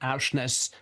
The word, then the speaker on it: Aursnes: It could be his idea of a joke, and Aursnes may be a very vulgar Norwegian saying, but I'm trusting him that Aursnes is the correct pronunciation.